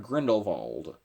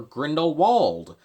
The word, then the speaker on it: Grindelwald: that's right it is Gellert Grindelwald or Grindelwald both pronunciations work I've already used both